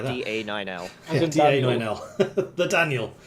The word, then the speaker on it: DA9L: The Daniel. It's because 9 can be pronounced as nio in Swedish, and his Swedish name is Daniel, so, you know, Daniel.